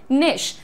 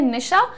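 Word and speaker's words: niche: Pronunciation यहाँ पर लिख भी दिया है निश, जैसे आप लोग घर में नाम लेते हैं निशा, तो उसमें से अ हटा दीजिए, निश बोलिए इसे।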